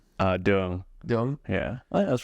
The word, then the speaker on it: Duong: Duong. Duong? Yeah. Oh, yeah, that's pretty good. Yeah. Duong.